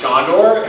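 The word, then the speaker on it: Sandor: could not understand that my name is spelled S-A-N-D-O-R and pronounced Shondor, and his name is spelled S-A-N-D-O-R and pronounced Sandro.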